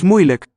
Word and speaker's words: moeilijk: Let's listen for the vowel of the last syllable. Het is niet moeilijk. It's reduced. Spelled as a diphthong lake, but just a luk. Schwa.